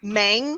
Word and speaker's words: Mang: Did you invite me on the Men's Health show because my name Mang kind of sounds like the word men?